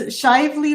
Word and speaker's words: Shively: And it's Shively, like lively.